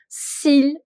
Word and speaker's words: s'il: Okay, L is to be pronounced because CLFR is to be pronounced if the word is ending with one of these alphabets.